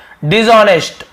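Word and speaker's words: dishonest: पे आपको मिल गया डिशऑनेस्ट ऑनेस्ट डिशऑनेस्ट @ साइलेंट होता है लेकिन लिखने हैं दिस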